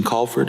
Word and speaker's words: Colford: Susan Colford, am I saying it correctly? C-O-L-F-O-R-D. Yes, ma'am.